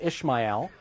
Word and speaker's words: Ishmael: had a son named Ishmael that's the Hebrew pronunciation Ismael in Arabic um